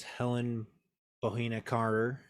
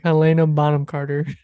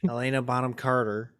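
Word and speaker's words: Helena Bonham Carter: I did snub in the top actresses was Helen bohena Carter bottom Carter bottom corner see I can't I can I'm always afraid to say her name because I'm always gonna say it wrong Elena Bonham Carter Elena Bonham Carter um one of maybe one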